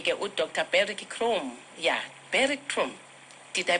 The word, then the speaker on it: Beric Croome: Yeah, Beric Croome. Did I pronounce nicely?